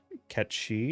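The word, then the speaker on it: Cait Sith: aith one and uh a Kate Sith or KET shei if you're using the uh closer to proper Scottish um pronunciation also uh some of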